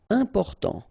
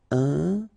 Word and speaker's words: important: Important. So final T not pronounced. And then remember, you've got this EM, and after that it's a consonant, so it is here nasal. Important. Important.